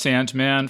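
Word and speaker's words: S&Man: Cemetery dance too called it's a sand it's pronounced Sandman for for listeners it's spelled s Ampersand M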